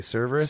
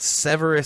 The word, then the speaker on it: Severus: Cerberus? Cerberus. Oh shit! I had an R. A song about Severus Snape.